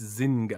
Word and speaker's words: Zynga: Everyone's mad that we're pronouncing it wrong. It's Zynga.